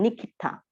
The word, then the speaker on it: nikita: So instead of pronounce niskipta, you pronounce nikita.